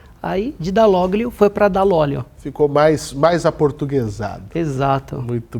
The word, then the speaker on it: Dall'Olio: É bem italiano esse Dall'Olio, né? Totalmente. Eu pronunciei certo? Isso, Dall'Olio. Dall'Olio.